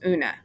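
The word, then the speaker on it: Oonagh: yet the moniker also named una is pronounced una duh it's a girl's name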